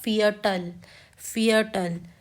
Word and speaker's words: Viertel: और 15 मिनट्स को 15 मिनट्स को हम कहते हैं फियटल। ये मैंने पहले ही बताया है कि वी होता है फाउ। ठीक है, इसको हम प्रोनाउंस करते हैं फाउ।